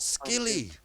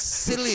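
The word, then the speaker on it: Scilly: opportunity to do it it's not skilly how do you say it the sea is silent it's silly silly yes well i i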